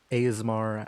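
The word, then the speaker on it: Aasimar: How do I pronounce it again? Asimar? Listener. I hear Asmar, Asimar, Asmer.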